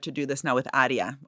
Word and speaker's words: ARIA: do this now with Adia or I always pronounce everything in Italian way Arya yeah right which is